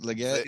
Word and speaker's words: Legette: Legette, is that how you say it? Legette?